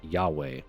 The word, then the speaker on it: Yahweh: Tetragrammaton, spelled as Y H W H and pronounced Yahweh.